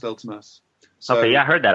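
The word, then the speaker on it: Vltimas: Wait, isn't it it's spelled with a V? No. Yeah, it is, but it's pronounced Ultimas.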